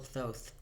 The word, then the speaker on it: Thoth: going on a little Thoth is that how you pronounce it I looked it up on was it Google or something how to pronounce those and they said those so that's what I'm sticking